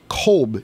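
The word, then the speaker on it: Kotb: Kolb. It looks like Cotb, but I don't know how to pronounce that quite Hoda honestly. Colbay. Is it Colbay? No, it's just Kolb.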